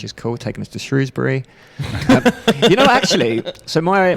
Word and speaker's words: Shrewsbury: There's a lot of people are like, "No, it's Shrosbury." And we talk about a lot on the show, but I say Shrewsbury. I say Shrewsbury. And I'm born and bred Shrewsbury. Right. And it's spelled Shrewsbury.